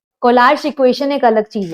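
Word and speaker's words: Kohlrausch: है तो उसके लिए कोलाश लो आता है कोलाश लो जर्मन वर्ड है जैसे प्रोनाउंस करना चाहो कर कोलाश बोलते स्पेलिंग अलग है उसकी राऊ सच मैंने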